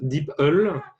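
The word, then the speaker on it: DeepL: wept donc ses apparats a priori ça se prononce d'ipl ouais ouais c'est meilleure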